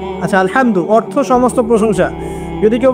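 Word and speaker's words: الحمد: আচ্ছা, এখানে আলহামদু কেমন করে উচ্চারণ করেছেন? গলার কোথা থেকে? মাঝখান থেকে না? আচ্ছা, আলহামদু অর্থ সমস্ত প্রশংসা।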